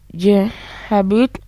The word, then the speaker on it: j'habite: The reason why you see this apostrophe, that's we say j'habite. When we say I live in, dear listeners, we pronounce that as j'habite. J'habite.